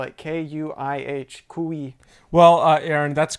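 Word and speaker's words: kuih: And uh we did have some more comments by the way calling us they said that I mispronounced the word kui. It's ku ku ku ku. No it's kui in in Malaysian and ku for whatever reason they spell it that way in Singapore.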